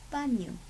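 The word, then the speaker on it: baño: And there are some other tricky words in Spanish, like for example, you pronounce that? Very good. Banyo.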